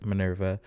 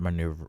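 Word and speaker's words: Minerva: Thank you fantasyesque Manurva um is actually how you pronounce her name. not maneuver nam manra Manurva but um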